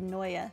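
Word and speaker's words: Neue: Google said Noya. That sounds weird, but if that's what Google says, then sure.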